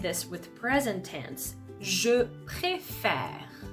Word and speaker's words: préfère: So you can see here, you can even see that on my mouth, that I'm actually going to be opening the sound. So if we cut the word here, préfère. Pré, it's exactly the same. The last sound of the syllable, e. I'm going to be closing it. Faire. So here, the last sound is r. Okay? So same system as appel. We're going to open the sound to welcome the last consonant sound.